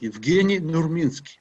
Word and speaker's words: Evgeni Nurminski: And for Juan, the name should be pronounced like that, Evgeni Nurminski.